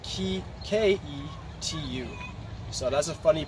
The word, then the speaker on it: Ketu: neptune or the eastern numerology better known as k2 so that's spelled key k-e-t-u so that's a funny pronunciation but that's how